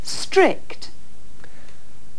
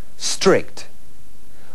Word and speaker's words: strict: Strict. Strict means estricto. Ten mucho cuidado con la pronunciación de esta palabra. Strict. Comienza directamente por una S y a los españoles les cuesta mucho pronunciar esta S inicial.